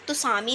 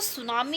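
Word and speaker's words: tsunami: इसे हम तसामी नहीं पढ़ेंगे। टी साइलेंट है सेंस सुनामी पढ़ते हैं।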